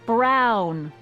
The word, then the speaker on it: Brown: to a te that's EMT Brown rhymes with clown which I'm beginning to